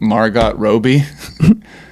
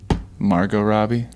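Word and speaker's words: Margot Robbie: oh that's shitty yeah I mispronounced margar Robie I'd say like Margot Robi because I just like didn't I think you might have just mispronounced it the first time too did you say marget Margo Robbie Margo yeah yeah yeah that's it it switches all the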